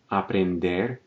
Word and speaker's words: aprender: We're going to say chegar, aprender, and assistir, stressing the final syllable.